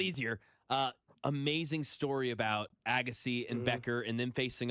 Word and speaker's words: Agassi: and so you can tell me if I'm pronouncing these names wrong. Bob, Dusty, Andre Agassi, it would be Andre Agassi. Agassi.